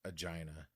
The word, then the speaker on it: Aegina: gonna go with the Aegina Envelope Filter it's pronounced agina the agenda it has